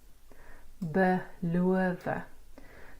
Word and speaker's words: beloof: Sake, klere, beloof. Just note that this BE is a prefix, so it's a short Okay.